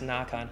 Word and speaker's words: Nikon: your sweet little comments I pronounce Nan like an American because I'm an American pronouncing it any other way would be weird I don't give you